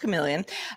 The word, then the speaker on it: CM3leon: announced a new text to image model called chameleon cm3leon but pronounced chameleon capable of producing image captions as well this